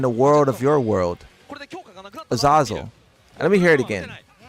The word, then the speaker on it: Azazel: In English, however, you have different pronunciations that do exist. Azazel is one of them. I was right. There's multiple pronunciations. So it seems like you guys are using the Hebrew pronunciation, and I'm using the English one.